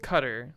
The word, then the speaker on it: Qatar: it on accident weird Qatar is pronounced cutter the Qatar students we